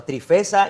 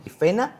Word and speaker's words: Trifena: A Trifesa y Trifosa, estos son nombres de mujeres, aunque parezca raro, pero son nombres de mujeres. Trifena y Trifosa, ahora sí lo pronuncié bien.